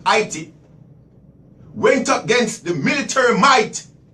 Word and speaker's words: Haiti: the island of Haiti, what you guys refer to as Haiti, the correct pronunciation is Haiti, went against the military might, Spain, England, British, and conquered them and beat them ass, whipped them.